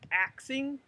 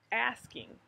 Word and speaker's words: asking: um i might but are you axing somebody or are you asking someone so this is